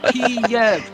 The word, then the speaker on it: Kiev: It was always Kiev, two syllables, Kiev.